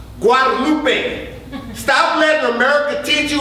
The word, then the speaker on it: Guadalupe: Lupe look at look at you and it's pronounced Guadalupe stop let America teach you our best as